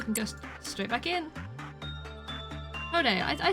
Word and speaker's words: Hod: Hode, I said it right.